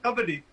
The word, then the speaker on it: kabaddi: But we've gone for the English version, which Which is is kabaddi. Kabaddi, I got that. Right. Okay. Kabaddi.